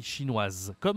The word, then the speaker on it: chinoise: Baker américain américain waywong chinoise chinoise ok là wewong c'est une femme on dit chinoise comme en français française chinoise on prononce la fin du mot quand c'est une nationalité féminine ok maintenant j'ai quelques